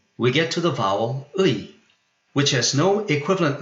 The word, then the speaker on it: 의: So I will go with U:I, which should be pronounced like a single syllable.